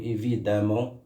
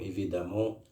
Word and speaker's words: évidemment: Et les adverbes également, les adverbes en ment, comme évidemment, qu'on écrit avec E et on prononce avec A.